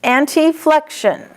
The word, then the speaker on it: anteflexion: When you see an ANTE, you need to pronounce it anti. Anteflexion.